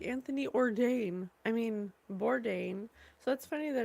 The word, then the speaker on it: Bourdain: I mean, Bourdain. So, that's funny that it rhymes with ordain.